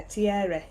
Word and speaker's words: Thierry: Thierry, yeah, Thierry. Thierry. We've got to say it with a French accent because he's French.